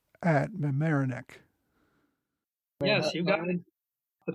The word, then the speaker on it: Mamaroneck: Their next encounter with the British was, if I can pronounce it right, at Mamaroneck.